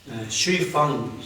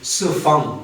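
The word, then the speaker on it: 西方: 여기 이제 슈이팡, 중국말로는 우리말로는 서방인데 중국말로는 스팡 그렇게 말을 해요. 서양 사람들 그 발음이 안 되니까 슈이팡 이렇게 말하고 여기 그렇게 그 문헌에 그렇게 표현했어요.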